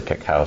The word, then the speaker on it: cacao: Christina tell me what the heck is a cacao ceremony am I saying it right yes um